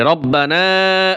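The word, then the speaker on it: ربنا: সহকারে করে দেখেন ইনশাআল্লাহ চলুন বন্ধুরা শুরু করি রব্বানা আতিনা আমরা বানান করে শিখবো মোনাজাতটা বানান করে শিখবো রব রব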